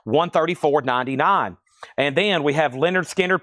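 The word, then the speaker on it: Lynyrd Skynyrd: This is Leonard Skinner pronounced Leonard Skard.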